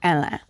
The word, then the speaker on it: Hélène: He tells his inner circle that while he's in the U.S., he meets and falls in love with a woman named Hélène, the French pronunciation of Helen, Hélène.